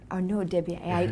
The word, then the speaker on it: Arnaud Desbiez: So please pronounce your name in that beautiful voice. So, Arnaud Desbiez. Arnaud Desbiez.